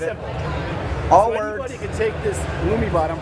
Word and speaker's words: Illumibot: Anybody could take this Lumiot. I'm pronouncing that right?